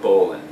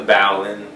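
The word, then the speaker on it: bowline: to show you is called the bowan it's a maritime favorite and often times incorrectly PR pronounced the bow in do me a favor and don't don't do that and don't lose me here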